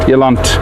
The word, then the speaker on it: eland: Just to remind you, eland, I pronounce it eland.